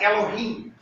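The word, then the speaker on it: אֱלֹהִים: So, it would have, the word that Moses would have spoken would have been Elohim. Or some people pronounce it Elohim. Okay? That's whatever. That's a difference in pronunciation.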